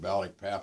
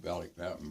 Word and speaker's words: Balikpapan: a crew that had been lost over at Balikpapan in Borneo.